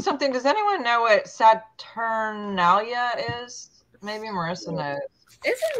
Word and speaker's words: Saturnalia: 25th I think that was it's mid December saturnalia and it is about the satalia thank you